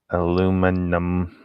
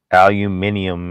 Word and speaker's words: aluminium: eats it too aluminum aluminium it's supposed to have an eye in there but but americans don't say they say it without the eye for some reason brandy